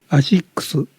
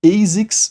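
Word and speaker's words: Asics: ela é japonesa, então a pronúncia original dela é algo como aixo, mas geralmente eu ouço as pessoas falando ASIX ou Asix, que é uma forma mais americanizada, né?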